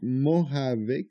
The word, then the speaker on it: Mojave: Donc, Mojave, ça se prononce. Par contre, ça s'écrit Mojave, M-O-J-A-V-E.